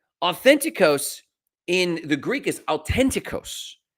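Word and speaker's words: αὐθεντικός: Authenticos in the Greek is authenticos. It doesn't have the th. It has the t and then a hard stop and then the h starts another uh pronunciation on the word authenticos.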